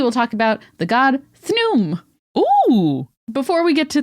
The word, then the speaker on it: Khnum: just say it again thn yay I love it it's interesting because it's spelled k h n u m but the KH is sort of pronounced in a like a th love it so we